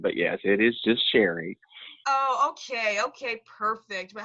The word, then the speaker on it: Sheree: And I know it's spelt with two E's, but it's actually Sherry. It's the old-fashioned way of saying.